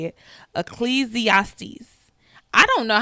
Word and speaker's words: Ecclesiastes: Ecclesiastes is how you say it. Ecclesiastes.